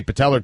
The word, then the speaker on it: patella: Patellar. It's just an A at the end.